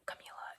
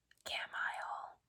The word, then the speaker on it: Camila: Um, Camila is my real name. That's how you say it, by the way. Um, I know a lot of people especially um in Canada at least from what I've seen they say Camila I've gotten Camile Camilio I don't Camille